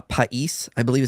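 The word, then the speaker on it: παῖς: It's uh pais how it's pronounced.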